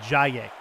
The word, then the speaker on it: Jaye: Jaye is who is the correct pronunciation for that first name. Jaye.